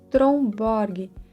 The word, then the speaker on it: Tromborg: É o blush vintage da marca Tromborg. A pronúncia dessa marca, na verdade, é algo do tipo Trombo, mas para facilitar a nossa comunicação, eu vou tratar essa marca como Tromborg mesmo, tá?